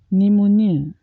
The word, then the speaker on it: pneumonia: trade unions suffered rural repression after the queue pneumonia pneumonia she developed a pneumonia which landed her